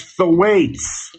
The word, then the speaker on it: Thwaites: And you can take that pronunciation to the bank. It's Thwaites.